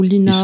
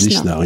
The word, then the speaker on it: Lisnard: Je ne sais pas si on dit Lisnard ou Linard. Lisnard, je crois. Lisnard. Mais non, c'est un L. C'est écrit L-I-S-N-A-R-D. Lisnard, David Lisnard. Il faut prononcer, paraît-il, le S. Il y a des gens qui m'ont signalé sur le site. Lisnard, on dit.